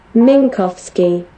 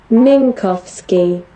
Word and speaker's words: Minkowski: Minkowski. Minkowski. মিনকস্কি, মিনকস্কি diagram, হ্যাঁ মিনকস্কি। Google ভালো উচ্চারণ করছে।